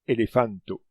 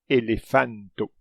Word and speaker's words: elefanto: On prononce chaque son distinctement, elefanto. Et attention, il faut toujours accentuer les mots sur leur avant-dernière syllabe.